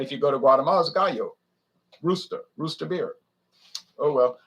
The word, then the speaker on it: Gallo: the u.s market because the real name is gayo that means rooster in in spanish but he couldn't call it gayo because there's ernest and giulio gallow that's gallow wine they pronounce a gallo but they're italian not spanish and so instead of